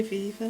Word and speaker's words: viva: a viva or a viviveror. I never know how it's pronounced. You say viva viviveror.